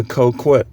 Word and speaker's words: coquette: So this video is entitled, "What is a coquette?" Coquette. Coquette. Some people pronounce it coquette.